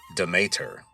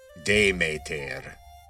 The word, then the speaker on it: Demeter: She was the daughter of Zeus and Demeter, otherwise known as Demeter or Demeter. The original pronunciation was something like Demeter, if you're going with the Attic pronunciation.